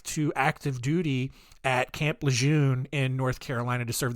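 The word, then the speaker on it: Lejeune: in eastern North Carolina I have seen reports that it has actually pronounced camp leure but Over My Dead Body am I gonna add an R into that word no shot dude you're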